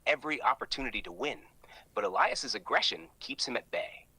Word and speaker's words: Elias: all three competitors boo AI says his name weird yeah Alias instead of Elias he said it like